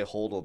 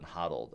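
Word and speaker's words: HODL: more people people say hold now because it makes more sense to be pronounced hold than huddled I always I I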